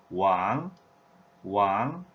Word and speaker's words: 王: And Chinese pronunciation in mainland China, the standard Chinese language, wáng, wáng, having the tone number 2 value. Also, there is another tone number value, wáng, wáng, tone number 4.